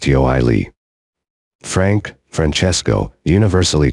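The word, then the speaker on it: Ioele: dead under the name of iol pronounced yoii Frank Franchesco universally called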